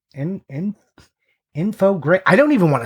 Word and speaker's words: Infogrames: I've been calling it Infogames. Yeah. Holy shit. All right. You're right. Infogrames.